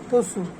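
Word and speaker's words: つ: এর মত যেভাবে চি এইভাবে টি এস ইউ তসু এইভাবে এটা হচ্ছে তে এইভাবে এটা হচ্ছে তো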